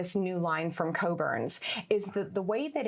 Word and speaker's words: Cockburn's: So Cockburn's, it's one of the brands that I represent that we can have a little bit of humor with. The CK is silent. It's not Cockburn. It's Cockburn's.